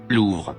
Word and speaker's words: Louvre: Louvre.